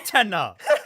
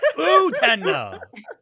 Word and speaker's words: Utena: Because nobody who watches Utena as an adult sees a revolutionary step forward in gay rep and anime.